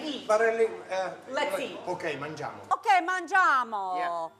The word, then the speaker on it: mangiamo: Okay, mangiamo. Okay, mangiamo. Yeah. Mangiamo.